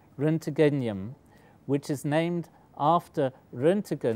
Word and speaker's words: roentgenium: has an name which is really difficult to pronounce renum which is named after ran the discovery of